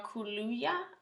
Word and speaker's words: Kaluuya: Daniel Kaluuya.